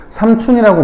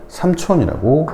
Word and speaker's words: 삼촌: 그래서 이것은 촌이라는 것의 의미가 너무 강한 단어이기 때문에 삼춘이라고 발음하지 않고 삼촌이라고 발음합니다.